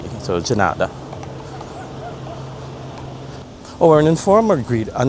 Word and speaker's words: de nada: Here it's de nada. Again, it's the d pronounced as a g. So, de nada.